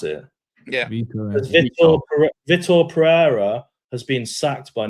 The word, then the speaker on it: Vítor: It says, is it Vitor? Is that how you pronounce it? Yeah. Vítor Pereira has been sacked by Nottingham Forest.